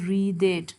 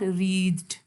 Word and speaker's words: wreathed: Why we pronounce it as wreathed? Can you see this small little something which is on E? So because of that, we have to pronounce it as wreathed, not wreathed.